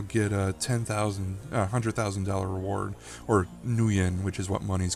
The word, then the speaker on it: nuyen: So you'll see a lot of Japanese references in here, like the money called nuyen, which is obviously nu plus yen, even though it's spelled nu.